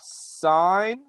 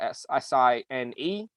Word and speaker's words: sine: our three ratios are sine okay um which is sometimes spelled as uh s i n e okay but simplified as sin but we pronounce it sine not sin pronounce it sine uh